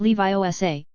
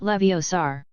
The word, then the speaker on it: Leviosa: It's<unk> Levi Sa, not Leviosar. Make the gar nice and long.